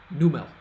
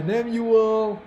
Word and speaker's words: Nemuel: It's N-E-M-U-E-L. Nemuel, not Numel.